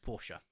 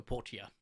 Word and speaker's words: Portia: on the channel was my time at Porsche no Portia I don't know how do you say I'm pretty sure it's Portia um that didn't do